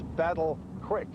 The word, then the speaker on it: Battle Creek: it they said battle the way you pronounce it is Battle Creek well that was my chance to laugh I don't know how how c-r-e-ek became quick when we first came here